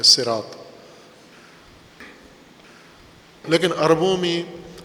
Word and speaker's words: صراط: طے شدہ ہے کہ یہ لفظ اگرچہ قرآن کریم میں صاد کے ساتھ ہے لیکن یہ اصل میں سین کے ساتھ، اصل اس کا جو تلفظ ہے، ہجا ہے، وہ سین کے ساتھ ہے، صراط۔ لیکن عربوں میں لہجے